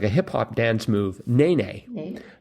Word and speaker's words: nene: Bird whose name sounds like a hip-hop dance move, nene. Nene. So now I know how to pronounce nene. Uh-huh. Yeah, I was pronouncing it Nene. Yep. But Nene.